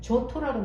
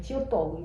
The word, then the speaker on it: Giotto: 지오토, 이게 어디 보면 그냥 조토라고 나와 있는데 제가 GIOTTO이기 때문에 지오토, 토라는 거는 저거는 약간 영어식 발음이야. 원래 이탈리아 뭐 이런 쪽으로 발음을 하면 지오토, 이게 맞아요. 지오토 디 몬도네인데, 이 사람이 이탈리아 피렌체 태생인데요.